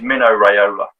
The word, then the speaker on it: Mino Raiola: Mark knows who he is, but there's a football agent, a soccer agent called, I have to always pronounce his name correctly because his name's Mino Raiola, and he was a super agent, and he